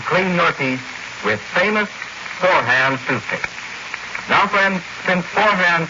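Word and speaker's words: Forhan's: stores it's spelled f o r a it's pronounced forehand and friends don't forget take an old you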